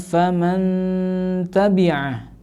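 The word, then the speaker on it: فَمَنْ تَبِعَ: Ya, di situ ada nun sukun bertemu dengan huruf ta. Maka di situ harus dibaca mendengung juga ya, atau lebih mudahnya kita kepada anak-anak dibaca mendengung.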